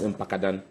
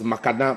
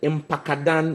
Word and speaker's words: Mpakadan: Now the president comes to say that it is his project, and he couldn't even pronounce Mpakadan. There was Makadan, Makapa, and I shouted Mpakadan, and even with that, he couldn't pronounce it.